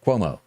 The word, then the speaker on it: Cuomo: Cuomo.